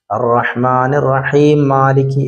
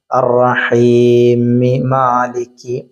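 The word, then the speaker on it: الرَّحِيمِ مَالِكِ: രണ്ട് മീമും ഒരുമിച്ച് വരുമ്പം അവിടെ നമ്മൾ കൂട്ടി ഓതണം എന്ന് വിചാരിച്ചിട്ട് അർറഹ്മാനിർ റഹീം മാലിക് എന്ന് ഓതാൻ പാടില്ല. അർറഹീമി മാലിക് അങ്ങനെ ഓതണം. അർറഹ്മാനിർ റഹീമി മാലിക് രണ്ട് മീമും ഉച്ചാരണത്തിൽ വരണം.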